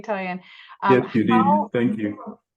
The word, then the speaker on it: Toyin: I hope I pronounced your name correctly, Toyin.